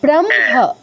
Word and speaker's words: ব্রহ্ম: তাহলে না না, আপনি তো হটা আগে উচ্চারণ করছেন, মানে তাহলে আপনি আগে একবার হ উচ্চারণ করছেন, পরে ম করছেন, এরপর আবার হ করছেন, ওরকম নয়। ব্রহ্ম, ব্রহ্ম, ব্র, এরপর মটা আসবে, হ্যাঁ, তারপর হটা আসবে, তারপর বনহি, ওয়ানহি।